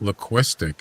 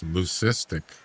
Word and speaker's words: lucistic: It's not luistic. It's lucistic. And I was pronouncing it wrong.